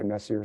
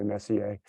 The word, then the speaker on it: Messier: It's spelled Messier. Some people say Messier, some people say Messier, but M44 is what it's called.